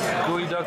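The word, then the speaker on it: geoduck: Gooey duck sashimi. Parents love that. Do you know? Gooey duck. It's called gooey duck.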